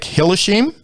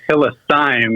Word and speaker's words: Hillisime: but is it hillishim uh you're you're close there and it's it's actually it's one of those tricky german names it's hillisime that's how you pronounce it okay well me